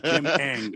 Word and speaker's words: Ng: Kim Ng. There's no A, so I'm just yeah. Okay. It's Kim Ng. Kim Ng.